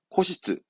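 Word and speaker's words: 固執: 예, 발음은 코시츠. 코시츠. 요것도 잘 나옵니다.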